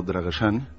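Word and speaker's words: Drăgășani: abuelos un pueblo llamado dragosani en pronunciación rumano draggersán es un pueblo está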